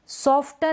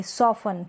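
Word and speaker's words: soften: सॉफ्टन नहीं पढ़ेंगे, सॉफन, क्या पढ़ेंगे, टी साइलेंट है, सॉफन, सॉफन। सॉफ्टन नहीं, सॉफन।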